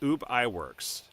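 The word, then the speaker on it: Ub Iwerks: UB I it UB yeah no it's it's UB ey works so anyway that happened in 1922 when they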